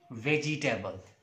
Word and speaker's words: vegetable: to discuss, that is vegetable. People normally pronounce this word as vegetable. This is not vegetable, this is vegetable. E after ja sound, E, this vowel sound is not there.